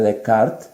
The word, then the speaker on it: Descartes: latinoamérica pero entre a la manera correcta de pronunciarlo es el error de de cart y bueno según antonio